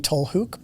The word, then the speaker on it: Tollhoek: Yeah, so in Dutch it would be Tollhoek, but in English it's Tollhoek.